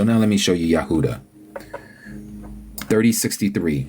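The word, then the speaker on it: יהודה: person that understands Hebrew when they call the tribe of Judah in Hebrew they pronounce it as yahuda every single one of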